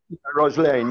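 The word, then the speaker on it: Röslein: not pronouncing this correctly is it ross lane roslane roslin roslane yeah there's an the umlaut rosaline it means little rose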